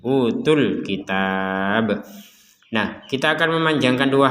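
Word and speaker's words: أوتوا الكتاب: tidak panjang utul kitab Kenapa tidak panjang Karena kita menggabungkan tu di sini UU bagian TU nya itu kita gabungkan dengan alif lam di kata Alkitab maka tidak panjang sudah jadi panjangnya hilang yang awalnya utu kemudian menjadi utul langsung ke Alkitab seperti utul kitab Nah kita akan memanjangkan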